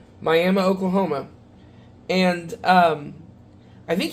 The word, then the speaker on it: Miami: And I ended up following some guy who was from the Miami, that's the way I was told to pronounce it, Miami, Oklahoma.